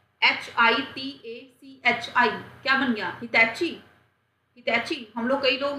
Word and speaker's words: Hitachi: HITACHI क्या बन गया, हिटैची। हिटैची, हम लोग कई लोग हिटैची बोलते हैं, कोई हिटैची बोलते हैं, टैची नहीं होता ये, कोई टैची नहीं है उठा के जाने वाला, इसको बोलते हैं हिटाची।